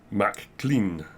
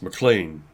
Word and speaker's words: McLean: McLean but my my surname is spelled McLean as a Mac and clean and so people aren't familiar if I'd say mac clean whereas it's McLean and McLean has about